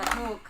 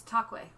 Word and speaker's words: toque: It's a toque. In Canada, we read that as cat in the toque, eh? My favorite pronunciation I've ever seen of toque by an American is Tocque. Tocque?